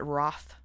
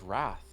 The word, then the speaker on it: wrath: What do you think about people who pronounce it Roth? I hate it. I know. I've heard you say that. It sounds like froth. It's wrath. Where's Where's the Where's the O coming from? Wroth. If you have a really thick British accent, I think you can get away with it.